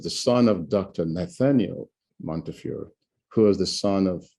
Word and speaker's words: Montefiore: I was at Montefiore, it's pronounced Montefiore here, for 20 years before I discovered the connection.